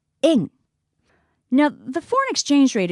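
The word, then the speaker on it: 円: up when shopping now in English we refer to the Japanese currency as the Yen but in Japanese we actually call it in it's a much lighter sound in now the foreign exchange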